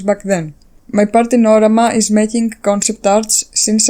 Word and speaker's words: Orama: And yes, it is pronounced Orama in Greek.